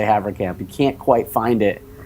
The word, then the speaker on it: Haverkamp: By the way, this Wait, reminds did I me of say Havencamp or Havercamp? What did I say just now? You said Havercamp. You said it right. Okay, Havercamp.